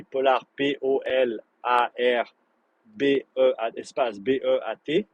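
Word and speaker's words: Polar Beat: Polar P-O-L-A-R B-E, espace B-E-A-T, Beat, comme Heartbeat, eh ben, tu peux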